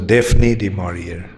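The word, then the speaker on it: Daphne du Maurier: one short story by defon dearia how many of you know of her an English author in England they pronounce as defne de maror anyway so she something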